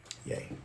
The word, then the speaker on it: Ye: It's not Ye, it's pronounced Ye. Yay.